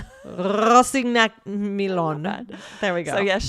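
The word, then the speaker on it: Rossignac-Milon: That was episode 2510, New York Times author Maya Rosignac-Milon. That's the French. Michelle gave you the English pronunciation. This is the French pronunciation.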